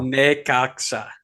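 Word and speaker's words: Necaxa: pronounce it wrong still Nea it's a it's a sa not a not a cha so hopefully our friends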